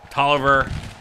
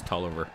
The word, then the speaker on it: Taliaferro: in there though uh Toliver and I believe that is how his name is pronounced not Taliaferro I think it's tulliver ah I did not